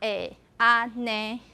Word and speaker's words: 安呢: What happened is you combine these two and become this. So what happened here? Anything happening in the first syllable? Nothing. But in the second syllable, this changed into E.